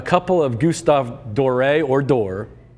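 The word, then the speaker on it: Doré: I've heard it both ways. He is French. He spent a lot of time in London. The British say Dor. I think the French say door because it's got that little accent mark over the E.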